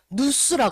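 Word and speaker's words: νοῦς: 마음을 이게 어떤 뜻이냐면 헬라어로 누스라 그래.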